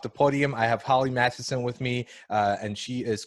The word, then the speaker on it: Mathieson: welcome to off the podium I have Holly Madison with me and she is currently in Scotland